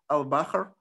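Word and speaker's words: البحر: So al-Bahr, and in the North African dialect of Arabic, it's, there is a vowel which is pronounced between ha, r, so it's really al-Bahr, the sea.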